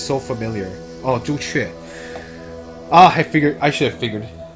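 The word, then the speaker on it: 朱雀: Oh, Zhu Chue. I should have figured. It's so funny, like it's Zhu Chue in Chinese and Suzaku in Japanase.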